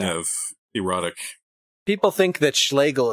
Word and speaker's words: Schlegel: People think that Schlegel is just a made-up name because it rhymes with Hegel, but no.